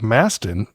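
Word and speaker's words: Mauston: t o n yeah it's like Masten M yes that's how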